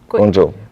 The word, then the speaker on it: Guangzhou: And your headquarters are in, how do you pronounce it again? Guangzhou.